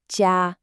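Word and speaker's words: 家: The first and absolutely most important character we need to master is this one right here, J. It's pronounced j with that high flat first tone.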